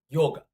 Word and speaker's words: yoga: and Cistus they phrase all right so it's pronounced yoga so if you see an Indian person around